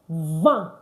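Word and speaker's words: vingt: see it and then 20 is pronounced va don't forget it's not vint why we said earlier when we're doing number five that i in French is pronounced as a a so 20 is not vit 20 is what va va V.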